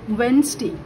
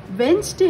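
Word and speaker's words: Wednesday: फिर देखो वेंसडे, वेंसडे हम लोग इसको प्रोनाउंस करते हैं, बट इसका डिफरेंस क्या है? जब इसको हम लोग स्पेलिंग में लिखते हैं, हम लोग को याद रखना है स्पेलिंग में लिखने टाइम वेडनेसडे लिखेंगे, बट प्रोनाउंस करते टाइम इसका होगा वेंसडे. तो ड ए डे, वेंसडे,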